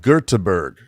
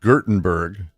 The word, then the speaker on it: Göteborg: You mean like Göteborg? because it's not pronounced Gurtenberg. Göteborg.